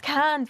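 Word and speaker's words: Cairns: days so we doing cans cans apparently it's cans but like they just don't pronounce the or but I don't know it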